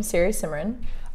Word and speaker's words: Siri Simran: That's my first name, Siri Simran.